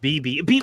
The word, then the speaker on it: Bebe: Bebe says, remember, Drew, is pronounced BB.